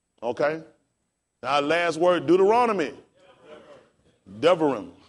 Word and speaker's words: Devarim: Devarim. How we spell it?